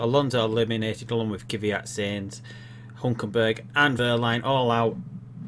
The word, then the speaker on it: Sainz: Hopefully we can stay in front of the Toro Rosso of Saints. Or Sainz.